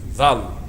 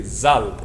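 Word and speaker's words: ذال: There's some people, like for instance, there's a lot of people that say this letter wrong. This is dhal. But some other dialects will say zal.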